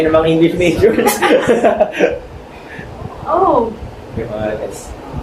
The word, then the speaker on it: Johannes: Johan. Yeah. Johan what? Johan what? No, it's Johannes. Johannes. Oh. That's right. Oh, what's That's rhyming. his surname? Kumabas tayo ng mga English majors. Oh. Johannes.